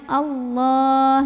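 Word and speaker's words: الله: depannya lam ya Nah lam yang ini dibacanya tebal karena huruf sebelumnya barisnya Fatah maka bacanya Allah jadi bukanlah tapi loh pangkal lidah kita dinaikkan allah' ada alif lam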